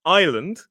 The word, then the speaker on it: island: Island has an S in it and it's silent, but we say island, but it's got an S in it.